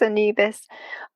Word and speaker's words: Anubis: I mean, both Anubis, as you know, or Anubis, I think the proper pronunciation is Anubis.